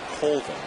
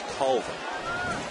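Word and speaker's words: Colvin: your mom pronounce it he said culvin but my granddad says cvin and Mom wins right Mom Trump's Granddad no no disrespect granddad but mom wins so it is Tyler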